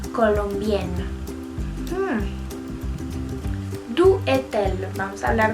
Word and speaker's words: colombienne: Pero como es una mujer, se agrega doble N y una E al final y se pronuncia Je suis colombienne.